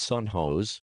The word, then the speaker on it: San Jose: recently the San Jose pronounced son hos State University of which